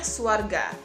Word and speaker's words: svarga: Oke, anak-anak, Ibu mau menjelaskan bahwa surga atau sorga berasal dari bahasa Sanskrit atau Sanskerta, yaitu svarga. Dibacanya swarga.